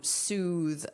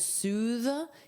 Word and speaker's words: soothe: Now notice the pronunciation is soothe. You have the voiced th. Soothe. Soothe. And it's a long ooh sound.